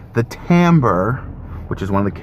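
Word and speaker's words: timbre: of squashed and it's going to sound the Tambor which is one of the characteristics of sound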